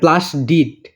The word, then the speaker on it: প্লাস্টিড: বোতল ওইটা কিন্তু না প্লাস্টিড ওই প্লাস্টিক না এটা প্লাস্টি ডিড প্লাস্টিড লাস্টে ড উচ্চারণ হবে তো আশা করি বুঝতে